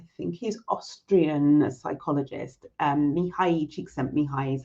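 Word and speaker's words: Mihaly Csikszentmihalyi: by a i think he's austrian psychologist um mihai chick sent me hi is how you pronounce his name and he wrote this book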